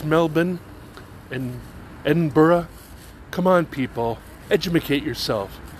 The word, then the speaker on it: Edinburgh: hogman in in Edinburough and know that it's pronounced Edinburgh and hasn't everybody been to Australia knows that it's not Melbourne it's Melbourne doesn't everybody know it's Melbourne and Edinburgh come on people edicate yourself get all smart